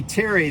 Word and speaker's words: Terry: And whenever I would say Terry, they would like mess it up, right? They'd be like Terry, Perry, Larry, Jerry, Gary, Mary, whatever, right? Everything that rhymes with Terry.